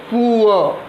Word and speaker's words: poor: Sound लिखते हैं POOR, अब इसको हम क्या प्रोनाउंस करेंगे? इसको प्रोनाउंस करते हैं पुअ। तो सबसे पहले प का सिंबल होता है P, उ का सिंबल होता है U, अ का सिंबल होता है उल्टा E, अ। और चूंकि अ लॉन्ग होता है, दीर्घ होता है, इसलिए 2 डॉट लग जाएगा, आर साइलेंट होता है। तो इसको प्रोनाउंस करेंगे पुअ, और इसका ट्रांसक्रिप्शन ये होगा।